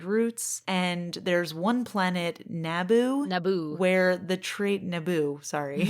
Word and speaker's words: Naboo: and there's one planet, Naboo, where the trade emphasis on the second syllable. Naboo, where the Trade Federation has stopped all trading, I guess.